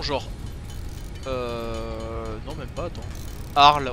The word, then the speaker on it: Arles: Arles, on dit bien Arles, alors qu'il y a un S à la fin.